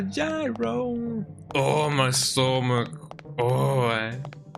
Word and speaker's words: gyro: Although it's technically pronounced zero, but I'm still going to call it a gyro.